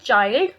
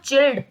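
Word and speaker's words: child: जैसे कि first sentence में है the small चाइल्ड. इट्स नॉट चिल्ड, इट्स चाइल्ड.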